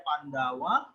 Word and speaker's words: Pandava: Ya, Raja Bimbisara menjumpai di bukit Pandawa atau tulisannya Pandava, ya, bacanya Pandawa.